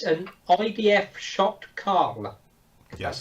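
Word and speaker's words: Sho't Kal: at home what it is it's an IDF shocked call that's how you pronounce it which is a centurion um from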